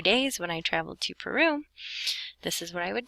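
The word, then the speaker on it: Perú: And Peru in Spanish has an accent on the U.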